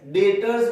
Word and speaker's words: debtors: B silent रहता है, DEBTORS, डेटर्स बोलते हैं, बी साइलेंट रहता है।